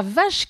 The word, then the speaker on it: vache: Oui, alors la plupart des gens, quand ils le voient, disent la wache qui rit. Non, non, le W peut se prononcer V, comme dans un wagon. La vache qui rit, cette écriture vous rappelle peut-être quelque chose.